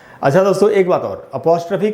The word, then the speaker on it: apostrophe: पढ़ लेते हैं लोग, ऐसे एपोस्ट्रॉफी ऐसे करके पढ़ लेते हैं। मैं आपको इसका शुद्ध उच्चारण बताता हूँ। इसका प्रोनाउंसिएशन है अपॉस्ट्रफी, अपॉस्ट्रफी।